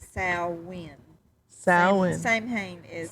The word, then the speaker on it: Samhain: So Sam Hain, Sal Wayne, Gaelic, Gallic, Celtic, Celtic.